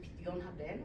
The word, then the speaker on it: פדיון הבן: So I don't have to do Pidyon Haben, which means that you buy your son back from the great priest.